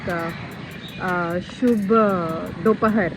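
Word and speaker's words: शुभ दोपहर: For good afternoon, people don't say actually, but actually for good afternoon it is like Shubh Dopahar. Oh, Shubh Dopahar.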